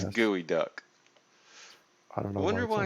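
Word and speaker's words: geoduck: it the geo but it's pronounced gooey duck for some reason gotcha gotcha oh the gooey duck here gotcha got the workshop just so people would pronounce it correctly instead of geo duck right it's a gooey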